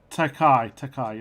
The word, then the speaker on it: Takei: So I never know how to pronounce his surname. George Takei? Takei, that's it.